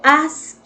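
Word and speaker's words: ASCII: el intercambio de información se le llama código ask y así es como se pronuncia ahora que ella más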